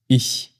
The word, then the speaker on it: ich: We pronounce this in a very special way. For example, we have the phrase ich.